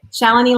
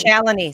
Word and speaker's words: Cellini: Like it's Cellini. That's how you say it? Cellini, like Melanie. Cellini. Say it again. Cellini, like Melanie.